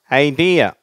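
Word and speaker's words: idea: அடுத்தது ஐடியா. ஐடியா, சரியா? ரெண்டாவது சிலபல் ஸ்ட்ரெஸ், ஐடியா.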